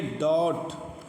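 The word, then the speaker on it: doubt: ये डॉट तो डॉट में देखें आप डॉट में डी ओ यू बी और टी तो टी से पहले फिर बी आया तो जैसे हमने ये बताया था टी से पहले बी है तो फिर यहां पर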